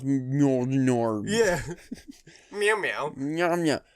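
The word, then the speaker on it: Mjölnir: That's how you pronounce Mjolnir.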